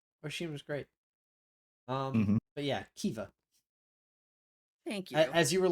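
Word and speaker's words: Caoimhe: It's pronounced Kiva.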